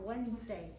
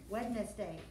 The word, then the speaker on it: Wednesday: Yeah, well, we say it faster. It comes out Wednesday. Wednesday was how I really pronounced it so you could spell it right.